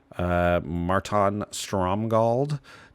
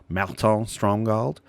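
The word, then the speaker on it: Márton Stromgald: creature, other than it's like there's an accent on the A. Marton Stromgald. Whenever it blocks, other blocking creatures get +1/+1.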